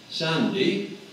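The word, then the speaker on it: sandhi: Sandy. Now, sandy is spelled S-A-N-D-H-I, and it's the linguistic term for that type of linking L or R in between vowels.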